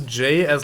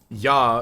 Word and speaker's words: ja: Like, how you would say, like, Ja in German. That's a J. You don't say Ja, you say Ja, because the fucking J is pronounced as a soft sound instead of like with a D in front of it like English does it.